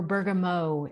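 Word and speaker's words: bergamot: tea fragrant lavender and citrusy bergt or Bergamo if we're going to be pronouncing it in French so this is a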